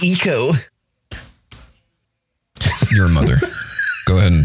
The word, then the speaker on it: Ico: It's pronounced ECO.